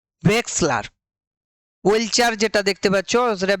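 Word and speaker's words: Wechsler: এটা হচ্ছে উচ্চারণটা হবে ভেক্সলার ভেক্সলার ওয়েলচার যেটা দেখতে পাচ্ছ সেটা ভেক্সলার এটা হচ্ছে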